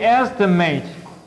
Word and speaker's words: estimate: If this is pronounced as mit, estimate is a value, okay? If it is, then that's a noun, okay? If we say estimate, that's a verb, okay?